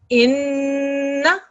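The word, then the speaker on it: إنّا: And then the noon mushaddad carries a fatha, so there's a na sound at the end. Inna.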